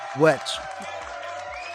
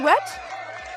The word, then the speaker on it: Wetch: So today we welcome KATIE WETCH. KATIE, did I say what right your last name? KATIE WETCH? Yeah, I said WETCH.